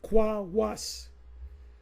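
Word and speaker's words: Qos: I believe it's pronounced Kwawas. And you know what?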